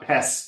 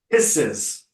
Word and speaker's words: pisses: me off okay there not piss me off two syllables pisses pisses oh mhm again now